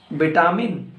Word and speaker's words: vitamin: It's very common in UK, vitamin, and it's very common among Americans as a vitamins.